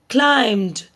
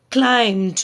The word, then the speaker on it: climbed: Every evening, every evening he climbed. There is no B sound. Okay, so don't pronounce the B sound. Climbed.